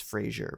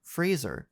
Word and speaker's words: Fraser: oh I didn't what's another way that it's pronounced people think it's Brendan Fraser because they hear the show Frasier I think it's Frasier but there's no I yeah I know but